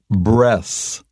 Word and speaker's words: breath: now listen carefully because the noun and the verb are pronounced quite differently the noun is breath breaths but the verb is breathe breathe so practice that a bit